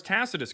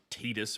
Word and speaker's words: Tacitus: As far as Tacitus goes, that's the way you pronounce it, not Tetus or whatever you said.